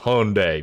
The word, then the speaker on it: Hyundai: uh hyundai hi hyundai goddamn brother that's that's pronounced hyundai brother or d nissan okay for sure for